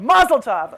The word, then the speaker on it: mazel tov: tov did i say it correctly you did mazel tov okay i've got the glass right here thank